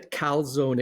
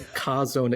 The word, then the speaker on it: Chazown: So it is not the Calzone Experience; it's the Kazone Experience.